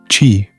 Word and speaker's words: qi: Chi, the life force, chi, pronouncedqi, is the vital energy flowing through all things, connecting people, nature, and the universe.